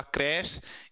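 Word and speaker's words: crèche: जैसे मैं इसका प्रोनाउंसिएशन देखता हूं, इसका प्रोनाउंसिएशन होगा क्रैश, इसका होगा क्या, मोनक, क्या बोला जाएगा, मोनक।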